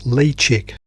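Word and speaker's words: Ledaig: And here's the bottle of whiskey I bought, which I'm told is pronounced lechic.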